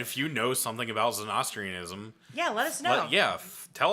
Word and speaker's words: Zoroastrianism: Yeah, Zoroastrianism.